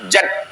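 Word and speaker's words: جد: Allah w w Man jad Jim cara membacanya jimnya baris Fatah jad artinya alhu hu artinya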